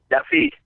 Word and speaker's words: Yaffe: By the way, Mark, how do I pronounce your last name? Is it Yaffe or Yaffe? Yaffe, yes. Yaffe.